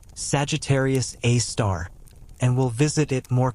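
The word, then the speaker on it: Sagittarius A*: We call it Sagittarius A asterisk, pronounced Sagittarius A star, and we'll visit it more closely soon.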